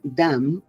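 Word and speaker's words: דם: misma es la unidad, seguida de Dalet, Mem, que se pronuncia Dam, sangre.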